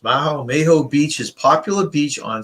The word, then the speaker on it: Maho: Number 5, Maho, I guess it's pronounced Maho Beach is popular beach on St.